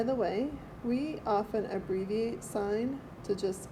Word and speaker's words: sine: way we often abbreviate sine to just s i n but when we use it don't pronounce that as sin okay it's the sine